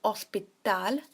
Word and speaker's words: hospital: Then we have el hospital, so the H is silent.